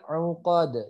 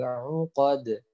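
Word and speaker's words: العقد: Kemudian fil uqad yang pertama adalah hurufnya itu adalah huruf ain, jadi bukan uqad ya, huruf hamzah jadi uqad tapi uqad. Tetap dibaca huruf ain ya, tetap dibacanya ain begitu.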